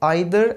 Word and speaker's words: either: मैं हूं अनुज and friends, आज मैं आपको सिखाने वाला हूं ईदर एंड नीदर का यूज़, जिसको हम आइदर एंड नाइदर भी प्रोनाउंस करते हैं।